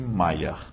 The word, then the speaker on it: Mayer: me y m y escreve-se meer com y mas pronuncia-se Mayer tá bem Mayer discordou de